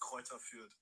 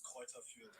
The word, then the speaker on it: Greuther Fürth: It's Greuther Fürth.